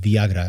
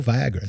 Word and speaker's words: Viagra: the show called it Viagra and I was like what is Viagra and then I realized oh Viagra so he's German that's how they pronounce things but the serend depy